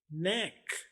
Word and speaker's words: neck: उर्दू में देखिए न ए क, नेक। ये देखिए नेक, नेक। आपने तेजी से इसको नेक पढ़ना है, नेक, NECK। आपने यही स्पेलिंग याद रखने हैं। ये NAAK आपको सिर्फ आवाज समझाने के लिए इस्तेमाल किए हैं।